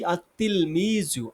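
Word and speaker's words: التلميذ: আমাদের উচ্চারণ আসবে আততাততাল আততিলমিজু। আতলমিজু। এখানে লাম উচ্চারণটা আসছে না।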